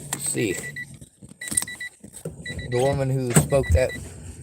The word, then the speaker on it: Sikh: And the Sikh Empire is pronounced Sikh.